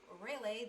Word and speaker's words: Rayleigh: wants me to just go into Rayleigh, that's how it's pronounced by the way, that's what she told me, for all the way until I get the kinetic hammer.